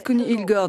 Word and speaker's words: Connie Hedegaard: Les Danois disent Connie Hedegaard, mais c'est imprononçable pour les autres.